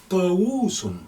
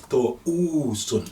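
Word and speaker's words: طاووس: To, wo, sun. That's peacock. To, wo, sun. And it can be pronounced as to, oo, sun as well.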